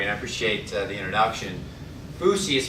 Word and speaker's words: Foosye: I appreciate the introduction fousi is pronounced f o SE and it's taken from the words food system fousy is the market